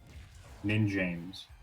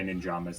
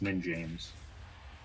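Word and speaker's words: NinJamez: okay okay yeah ninjamas nin and then capital j a-m-e-z nin james i always say it wrong a lot of people say ninjas it's nin james careful of that back here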